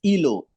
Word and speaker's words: Ilo: Yeah, the pronunciation of this particular name is Ilo.